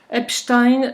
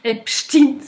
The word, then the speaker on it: Epstein: Epstein c'est un nom allemand comme Einstein. Ça se prononce Stein, ça se prononce pas Stin. Voilà. Pourquoi est-ce qu'il s'est vertu à nous l'appeler Epstein ? parce que Epstin ressemble à Staline Nine à Poutine.